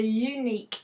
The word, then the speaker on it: unique: the business has a unique sewing point the actual opening sound is a sound which is actually a consonant not the U which you were considered to be a vowel so that's why we